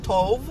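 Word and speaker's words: טוב: I can't remember what it is in the Strong's Concordance, but it's T-O-B-E, but it's pronounced Tov.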